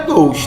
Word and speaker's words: gauche: Palavra advinda do francês, a pronúncia correta é gauche, tá?